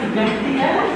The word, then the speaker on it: Mekhtiyev: And, he can pronounce his last name, so you don't want to mess it up, but it sounds like Mekhtiyev, and, having attorneys come